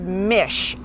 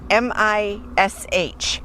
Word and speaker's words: mish: And if they do, we make a joke because their beef um, their ground beef is called mish. m i sh mish and it's just ground meat.